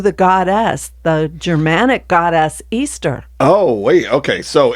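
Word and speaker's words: Eostre: E capital E O S T E pronounced Easter or Estra.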